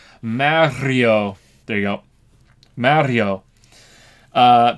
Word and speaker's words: Mario: pronunciation in Mario but everyone is wrong because you have to roll the r Mario there you go Mario